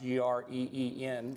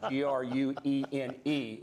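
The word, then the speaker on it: Gruene: That's not G-R-E-E-N, but that's G-R-U-E-N-E. Not Gruen, but Green, Texas, is the way it's pronounced down there.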